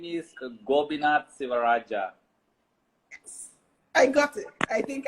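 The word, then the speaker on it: Gobinath Sivarajah: this bet yes okay uh my name is gobinat sivaraja i got it i think i got it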